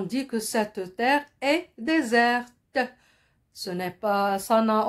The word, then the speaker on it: désert: mot desserts comme non ce n'est pas le dessert c'est le désert avec un seul ace et il se termine par une lettre miettes chers élèves pour ne